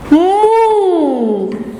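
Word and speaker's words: منہ: देखिए, अब ये नून की आवाज को आप नाक में पढ़ेंगे।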